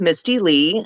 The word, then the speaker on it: Mistilei: an author Doula and my name is pronounced Misty Lee I run a campground